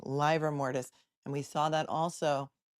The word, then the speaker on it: livor mortis: The ADA keeps saying liver mortis, and this witness keeps saying livor mortis.